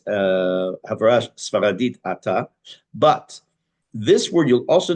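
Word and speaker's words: אתה: Without going to the background as to why, this word is not pronounced ata, but it's ki'el shemea tfilot v'tachanunim ata. It's called mila'el. For the accents on the first syllable. Generally, we say ata, ata rotzeh, ata olech.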